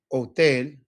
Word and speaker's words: hotel: It's one less sound that you got to worry about because it's silent.